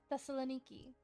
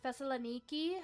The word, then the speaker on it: Thessaloniki: So like Thessaloniki has a stress over the E on Niki.